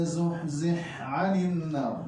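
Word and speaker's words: زحزح عن النار: Haknya lebur cuman sifatnya masih ada. Jadi cara bacanya faman zuhzih 'anil nar.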